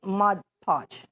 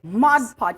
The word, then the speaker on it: Mod Podge: Mod Podge, okay? Mod Podge, not Mod Podge.